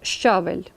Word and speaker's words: щавель: звуку не позначає слово щавель у слові однакова кількість звуків та букв буква ща позначає два звуки шч а м'який знак не позначає жодного звука і зайвий варіант -